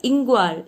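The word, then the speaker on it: Nqong: The spelling is Nqa, but it is pronounced like Ingwar.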